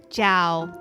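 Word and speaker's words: chào: to Italian actually so in Italian it's chiao right in vietamese it's also Jiao but you got to go down the sound that you make goes down kind of like you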